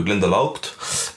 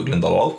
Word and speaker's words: Glendalough: il faut absolument aller voir le monastère de Glendalough, je vais le prononcer comme ça.